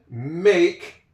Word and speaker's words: make: I would make this is M-A-K-E, that is a silent E.